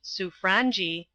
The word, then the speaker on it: Sobranje: on what the Sobranje, it is pronounced Suffrangi, would be likely to do.